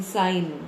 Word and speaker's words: sign: Then, in sign, the G is silent.